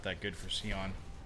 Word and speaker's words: Sion: That's really not that good for Sion. I mispronounce words on purpose just to like shitpost. I think somebody commented on YouTube because like I say Scion just like why not,